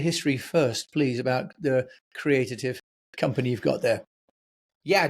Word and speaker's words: Creatitive: It's Creative.